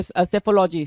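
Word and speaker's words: psephology: सेफोलॉजी सेफोलॉजी P silent होगा। सेफोलॉजी बोलेंगे सेफोलॉजी।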